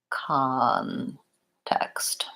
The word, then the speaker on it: context: Versus a word like context, the stress is on that first syllable, con, and in that case, I use the ah vowel, context.